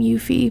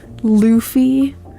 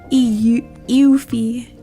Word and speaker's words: Euphie: Or like even my current name, Euphie, people sometimes will pronounce it like Euphie, Euphie, Luffy. I'm like, my name is not Luffy, okay?